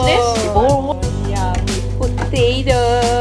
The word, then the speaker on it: Boerewors: How do you pronounce this? Boerewors.